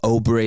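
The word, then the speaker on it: Åberg: of this young blood in Aberg, or Obery as he's actually, I think, pronounced officially, Ludwig.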